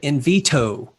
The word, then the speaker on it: Invitto: i want to go in veto quickly which kind of sounds like a d but it's got two t's in it should i pronounce it in veto yes yes okay so